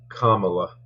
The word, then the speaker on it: Kamala: but by the way it's Kamala uh yeah it's just it helps when you say her name right because then you you